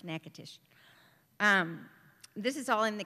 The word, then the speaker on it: Natchitoches: of Natchitoches, which is spelled Natchitoches, but it's pronounced Natchitoches.